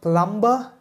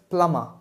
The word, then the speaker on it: plumber: So it's not plumber, it's just plumber.